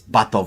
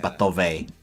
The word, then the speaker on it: Batov: It's Batov. It's not Batove.